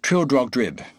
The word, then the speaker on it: Trildrogdrib: It contained a warrant for conducting me and my retinue to Trowdagdrub or Trildrogdrib. for it is pronounced both ways, as near as I can remember, by a party of 10 horse.